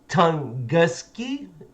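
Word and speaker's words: Tunguska: And this one I can't even say, so I had to look up how to pronounce it. Tunguski event, the Tunguski event.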